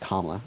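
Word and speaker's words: Kamala: I'm voting for Kla Harris because also her name is pronounced Kla.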